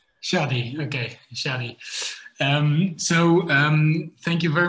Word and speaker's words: Shady: So Shady, is that the nice way to correct me to pronounce it? Yeah, my mama calls me Shady. Shady, okay, Shady.